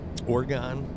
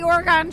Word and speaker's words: Oregon: another word y like I usually say like orgon you know like orgon Trail that's what I think